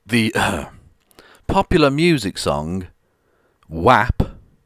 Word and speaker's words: WAP: uh popular music song whap or what if you're american and therefore pronounce things wrong um which stands for